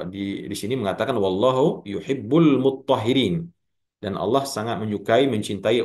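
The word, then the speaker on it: مطّهّرين: Di situ mutatahhirin, sedangkan di sini muttahhirin. Artinya sama ya, cuman beda cara pengucapannya saja. Yang satu taknya dihilangkan, diidghamkan kepada ta ya, sehingga dibaca muttahhirin.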